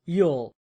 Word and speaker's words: ULL: The slow lane strategy is rooted in uncontrollable limited leverage or ULL, pronounced Yule.